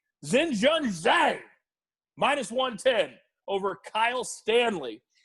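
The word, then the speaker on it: Xinjun Zhang: just because i love to say the name zen john zane minus 110 over kyle stanley and kyle stanley how do you spell that how do you spell that uh that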